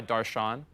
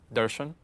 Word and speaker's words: Darshan: But technically the correct way to pronounce my name is actually Darshan. There's like a, yeah, like that's just the correct way to pronounce it.